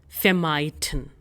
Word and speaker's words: vermeiden: Okay, so its pronunciation is V is pronounced as FAU, no? So we have FA sound in it. So we'll say fair and R is silent. Fair. And then we have the diphthong EI ending in I. So its pronunciation will be I.